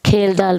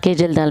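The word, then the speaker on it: Kjeldahl: is it important question kalal method it is not kelal method J is silent kalal method is used for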